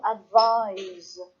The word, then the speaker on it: advise: make it different but to advise somebody I have to advise you about something is a said sound that's the verb if you have an